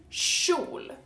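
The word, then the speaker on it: kjol: word is skirt and skirt in Swedish is Sho spelled like this sh and it's basically like when you tell someone to shut up sh and then there o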